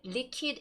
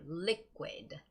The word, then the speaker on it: liquid: It's got to be liquid, liquid. Okay, liquid, liquid. So whenever you see the words with the QU, where it's spelled out as QU, the sound is ku, ku.